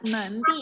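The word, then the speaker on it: 满地: Iya, manti itu Kok Eren bacanya jadi mandi sih, Lause? bukan mandi ya sayang, manti. Ti pakai T, bukan mandi. Ya emang tulisannya mandi, tapi bacanya manti.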